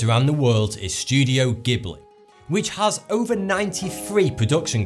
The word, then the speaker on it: Ghibli: Mediterranean from the Sahara; the Arabic word for the winds was mispronounced as “Ji-bli”, and ultimately became the Ghibli we know today.